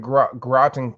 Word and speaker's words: Groton: here great to have you um you're in groton connecticut did i say it right you did